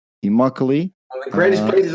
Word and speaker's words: Immokalee: Josh is originally from a small village in Florida called, Josh, help me out with the pronunciation. Immokalee. Immokalee.